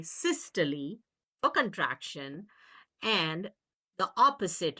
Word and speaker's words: systole: But in the heart, we say systole for contraction. And the opposite, relaxation, is diastole. Diastole means relaxation. Now, some students will say systole, diastole, but I think the correct pronunciation is systole, diastole.